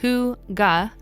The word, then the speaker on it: hygge: Pronounced “hoo-gah,” hygge is more of a feeling rather than an activity.